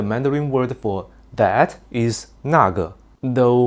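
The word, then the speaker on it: 那个: For example, the Mandarin word for "that" is nàgè, though many people nowadays pronounce it casually as nèigè.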